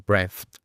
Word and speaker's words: breath: a decir breathe o breath para hacer el verbo. El sustantivo, el nombre, siempre va a ser breath, con una E abierta, breath.